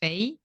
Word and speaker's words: Faye: speakers super hard but the brand is pronounced Fay and that was the